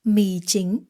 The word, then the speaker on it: mì chính: Không mì chính. Mì, falling tone. Chính, rising tone.